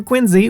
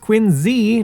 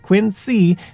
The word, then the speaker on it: Quincy: diametrically and sometimes humorously opposed methods as for quiny which yes is pronounced Quinn Z not Quinn C the city is home to the Adams National